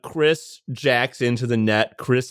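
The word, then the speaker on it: Xris: Um, next patron is I'm going to pronounce it Chris, but it's spelled in a badass cyber way, which is X R I S.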